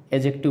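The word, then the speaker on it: adjective: और इस एक बात और भी दोस्तों बता दें कि जो लोग इसको एडजेक्टिव पढ़ते हैं, तो एडजेक्टिव भी इसको नहीं पढ़ा जाता है, एडजेक्टिव पढ़ा जाता है, तो डी साइलेंट रहता है, मतलब ग्रामर का नियम है, ठीक है।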